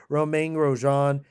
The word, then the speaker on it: Grosjean: How am I not pronouncing his name right? We're still some of these Romain Grosjean. There we go. Romain Grosjean at number 18.